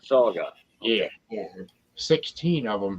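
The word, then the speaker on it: saugeye: walleye and musky mix how you spell that s.a.u g-e-y-e okay saga oh yeah okay like a walleye but saga yeah yeah 16 of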